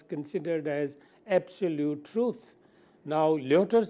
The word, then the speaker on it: Lyotard: Now the French thinker I was going to talk about is Lyotard, L-Y-O-T-A-R-D. In French, last syllable is not pronounced. D will not be pronounced. So they call it Lyotard.